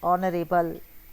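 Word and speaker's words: honourable: यह बच्चों आता है ज्यादातर नरे बल क्योंकि इसका प्रोनंसिएशन है नरे बल एच साइलेंट है क्या आएगा आपका एन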